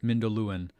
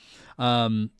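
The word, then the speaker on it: Mindolluin: Then the sun went at last behind Mindoluin, I got it right, one of the pronouncing things. Mindoluin, and filled all the sky with a great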